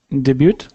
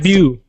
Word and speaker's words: debut: in English and it's debut yes perfect exactly debut so we don't pronounce the T so just debut January one more time